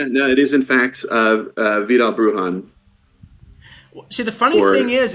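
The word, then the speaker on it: Vidal Bruján: Yeah, no, it is in fact Vidal Brujan.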